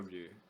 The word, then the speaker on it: Ryu: I don't even know how to pronounce their name. Rue, how's it spelled? RYU. Oh, Rue.